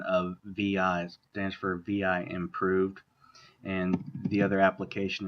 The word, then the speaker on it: vi: It's either VI, it's pronounced VI, or VIM.